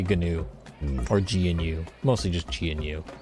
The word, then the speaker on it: GNU: I think it's new. I just say GNU I'll take that. because software. We just had to tack a silent G onto the front of that word because